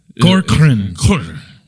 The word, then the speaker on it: Corcoran: But he was like, just say Cor and then Corcoran. Yeah. So that's how you say it. He said just blur the rest of it.